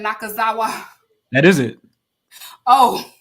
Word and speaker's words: Nakazawa: I cannot say his last name, but I'll be saying Nakazawa. That is it. Oh, it's Nakazawa. Nakazawa.